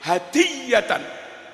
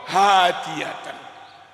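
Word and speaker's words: هدية: Mutaqabbalah, kembali ke hadiyatan, silakan baca hadiyatan, jangan baca hadiatan, maknanya jauh sekali, seperti senapan.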